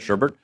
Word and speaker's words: Shurburtt: I should say, not Shurburtt. JC, how you doing, buddy? It's actually Shurburtt. It's just it's the German spelling.